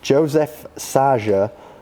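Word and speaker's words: József Szájer: Joseph Saja, that is how it's pronounced, George, before you ask, a high-profile Hungarian politician, has resigned following the event.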